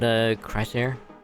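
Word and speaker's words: Chrysaor: I think that's how you pronounce it, Chrysor. It's almost kind of like you're combining Chrysos and Air.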